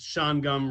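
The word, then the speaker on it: Shawangunk: a little disappointed that you'd pronounce sean gum wrong it's the kill bridge there's no k sound but with having been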